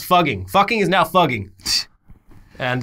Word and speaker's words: Fugging: Fugging. F-U-G-G-I-N-G. What? Fugging. Why? That's so stupid. I don't think that this is better. So it's apparently a better written representation of how the residents actually pronounce the name.